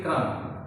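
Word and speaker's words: crumb: इस तरीके नेक्स्ट देखिए क्रम। यहाँ पे एम के बाद बी आया, बी नहीं पढ़ेंगे, यह होगा क्रम।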